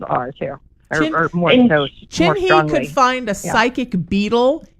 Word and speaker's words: Chinhee: Chinhee could find a psychic beetle in a haystack.